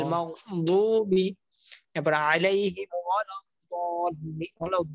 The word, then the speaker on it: المغضوب: অনেকে মাগদুবি পড়বে, অনেকে মাগজুবি পড়বে। দুটোটার মাঝামাঝি বলতে হবে, গয়রিল মাগদুবি।